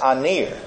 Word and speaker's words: aner: But there's another word for man, and that's aner. A-N-E-R is the way it's spelled in English.